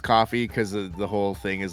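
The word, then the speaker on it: Ko-fi: stuff like patreon our coke coffee I think is how they pronounce it's the KO - fi yeah yeah be like coffee buy me a car all I can hope I in my mind but it probably is coffee yeah I I read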